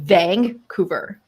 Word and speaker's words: Vancouver: spelling vancouver right right okay that's not how you say it if you're from vancouver you say vancouver like vang cooper so it's not like the scene it's like there's this weird g that has just like snuck